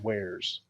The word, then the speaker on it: Juarez: dumb I actually think you're supposed to say it like where's it supposed to be where's but I used to say water yes there's a light